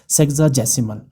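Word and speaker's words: sexagesimal: किया गया है और अब इसे प्रोनाउंस किया जाता है सेग्जासिमल और इसका मतलब क्या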